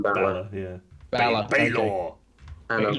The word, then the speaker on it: Balor: Balor, yeah.